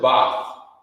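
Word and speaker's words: בת: In the ancient Hebrew, you would pronounce it Bath. You know what I mean? That's how you say daughter.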